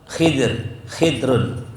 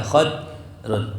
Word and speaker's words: Khidr: Ya, ma'a kasril khidrun au fatihah khadrun boleh, khidrun, khadirun, khadrun boleh.